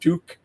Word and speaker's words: TUQ: It's spelled TUQ, kind of pronounced Tuk, not to be confused with a popular Canadian ski hat.